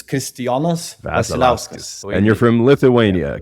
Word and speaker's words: Kristijonas Vasiliauskas: How do you pronounce the proper pronunciation of Yeah. So it's Kristijonas Vasiliauskas.